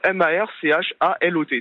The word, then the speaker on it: Marchalot: Non, c'est M-A-R-C-H-A-L-O-T, tout simplement. L-O-T, voilà, Marchalot. Marchalot de Bretagne. Comme un cachalot.